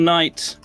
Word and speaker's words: knight: Run away, little knight. Flee from the tyranny. Good night. I found a cargo ship. I'm really glad we don't live in the reality where you pronounce the K in night.